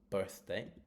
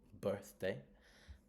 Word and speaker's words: birthday: Birthday. So, it's going to go on the first syllable. Birthday.